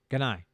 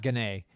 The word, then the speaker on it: Ganai: I'm going to say it right. Ganai, not Ganay.